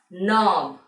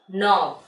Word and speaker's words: knob: which is pronounced as knob. N-O-B, knob. You can see this knob in your doors. Here in the spelling it is K-N-O-B. But while pronouncing the alphabet K is silent.